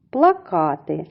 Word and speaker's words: плакати: це слово плакати плакати плакати звучить так само як і плакати але наголос в цім слові припадає на другий склад плакати дзвони дзвони ділимо